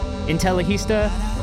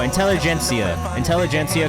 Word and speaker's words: Intelligentsia: Intellihista, and I think it's Intellihista. I never know how to say this. Intellihista. Oh no, Intelligentsia coffee. Also phenomenal.